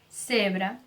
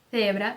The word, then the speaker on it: cebra: não, cebra, ó, cebra, sabe o TH do inglês? É igual. Cebolla, ok? Com a língua entre os dentes. Vamos mais uma vez. Cebra, cebolla. Já na América Latina vai ser pronunciado como S.